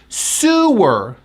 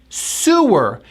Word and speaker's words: sewer: This word is a noun, and we pronounce it with that oo sound, that tight oo sound, lips forward. Sewer. Sewer.